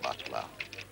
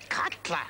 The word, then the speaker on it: Cutler: forgets a friend eh Butler Cutler Cutler why does everybody get my name wrong Casper oh Cutler whatever